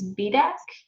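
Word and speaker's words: biodag: dirk which interestingly prin apparently pronunciation b-i-o-d-a-g is b-deck did not know that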